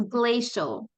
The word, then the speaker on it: glacial: So in the word glaciers right here, this is pronounced like a sh. So it's glaciers, glaciers. And this is glacial. So glistening glaciers gracefully glide through the grand glacial gorge. So it's a sh sound right here.